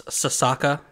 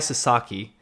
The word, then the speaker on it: Sasaki: I'm just assuming it's Sasaka. Oh, you've already said it wrong. It's all right though. Senpai Sasaki. She says that. Is there an I at the end?